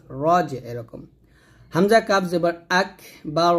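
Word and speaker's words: أكبر: করি তো এটা করলে কিন্তু বড় ভুল হবে আকবার এরকম আইনকে যাকে ধরবে যা উচ্চারণ করতে গিয়ে যেন জিম কিংবা জাল কিংবা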